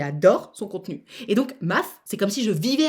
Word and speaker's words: M4F: MAF, ça s'écrit M4F.